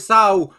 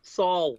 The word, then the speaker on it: Saul: joined by bellator featherweight sao rogers how's it going brother you just butchered my name again again so so right right right say paul pooh king the p to an s saul so oh my god